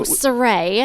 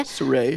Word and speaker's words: Saray: But phonetically, since it's spelled, and for some reason my mom put a U, so it's just easier to say Saray.